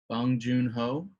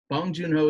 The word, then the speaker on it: Bong Joon-ho: Bong Joon-ho. Is that am I saying it? I said it. Yep. Bong Joon-ho is the director, the writer, the producer.